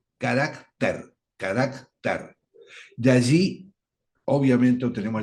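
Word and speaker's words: χαρακτήρ: es carácter, con K, carácter, carácter. De allí, obviamente, obtenemos la palabra carácter. Tienen distintos acentos. Carácter con K y con acento en la E, y carácter con acento en la A.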